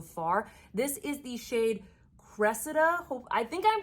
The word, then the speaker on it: Cressida: up and the internet is telling me it's pronounced Cressida and apparently she's a Trojan woman she's in